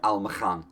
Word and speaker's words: Almakhan: Almakhan? Probably pronounced that K a little more harshly, but my accent won't allow it. Almakhan, there you go.